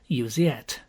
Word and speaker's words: Iseult: She was christened Iseult, and pronounced by her father, as most Englishmen do pronounce it, Usiet, which rather defeated the object.